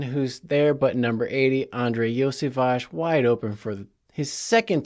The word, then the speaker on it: Andrei Iosivas: not say his name properly but it is Andre yage as we all know but this was interesting